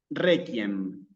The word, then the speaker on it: requiem: Fíjate que en este caso, Clara, que cuando yo digo qui, la U la estoy leyendo aquí. ¿Sí? Estoy diciendo, no digo qui, digo qui. ¿Sí? Entonces, en este caso, es misa de requiem.